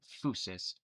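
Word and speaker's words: φύσις: uh actually it comes from the Greek word fouseus phys it's pronounced fousis um which literally means nature right so physics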